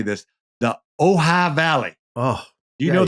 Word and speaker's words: Ojai: And we're going to do a little junket up to make sure I've been studying how to say this, the Ojai Valley.